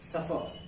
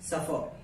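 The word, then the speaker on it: supper: इसका मतलब होता है इसमें R साइलेंट होता है। ठीक है, R को उच्चारण नहीं किया जाता है, इसको पढ़ते हैं सफर। क्या पढ़ते हैं? सफर।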